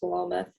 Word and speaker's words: Philomath: farlow mathea and um philomath the town it's pronounced velomoth um it's a small mill town in oregon